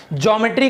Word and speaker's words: ज्योमेट्री: ज्योमेट्री कहलाता है। इसको बार बार लोग ज्योमेट्री कहते हैं, लेकिन इसको एक्चुअल प्रोनाउंसिएशन क्या है? ये जियोमेट्री है।